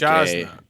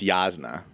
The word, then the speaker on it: Yasna: It's like Jasna. yeah. Jasna colon. It's Yasna. Yasna.